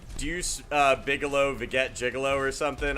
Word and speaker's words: Deus: I think that's how you pronounce it, Deus. Like Deus Ex. He said call him Deuce, so I don't know, man.